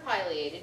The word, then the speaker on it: pileated: this sew feeder and they had either pronounced pated or Pileated you can take your pick pated woodpeckers Woody Woodpecker